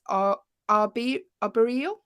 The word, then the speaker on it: arboreal: I don't know how to pronounce this. Animals that are classed as arboreal.